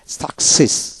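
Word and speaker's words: success: দুইটিরই উচ্চারণ করতে হবে প্রথমটি ক উচ্চারিত হবে পরটি দন্তাস উচ্চারিত হবে যেমন একস যেমন এসিতে এক সিই ডবল এস একস একস এভাবে আবার এস সি সাক সাক সিই double S সাকসেস সাকসেস C double S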